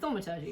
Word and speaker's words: thaumaturgy: Thaumaturgy.